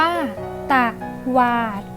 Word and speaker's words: ตวาด: จะ สนุก อะ ก็ ตวาด อ่าน ว่า ตะวาด และ add a